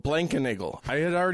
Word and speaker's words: Blankenagel: Yeah, having a four syllable last name is, you know, it's kind of like a feeling of notoriety.